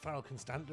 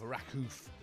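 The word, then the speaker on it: Raków: We are in charge, as I say, of Rakow. I believe it's pronounced Rakow. I've been led to believe it's Rakow, not Rakow, as I had before.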